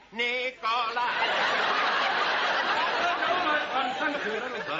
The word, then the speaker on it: Nicholas: Once upon a time, there was a woman called Nickel Ass. It's pronounced Nicholas.